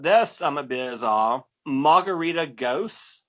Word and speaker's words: Gose: Margarita Gose. I probably pronounced that wrong. It should be Gosa, I'm sure.